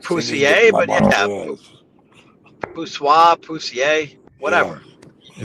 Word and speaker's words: poussoir: Like mono poussier, not poussier, but yeah, poussoir. I was close. Mono poussoir. I'm not that off, guys. I like poussier, but yeah, poussoir, poussier, whatever.